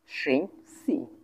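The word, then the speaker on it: 星期: সিং সি সিং সি এটা first tone এইটা first tone এটা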